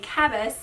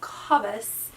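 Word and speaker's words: Cabas: where i review it i say it wrong i say kabus but it is kabus so i hate to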